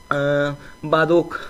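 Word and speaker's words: Baroque: तो वो है दोस्तों बारोक। यहाँ पर बरोक, इस तरीके से उसको हम लोग ऐसा प्रोनाउंसिएशन करते हैं इसका।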